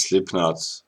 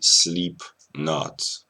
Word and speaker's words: Slipknot: kind of funny because slipknot if if someone with a bad pronunciation speaks the name of the of the rock band they say sleep not which means awaken that's kind of kind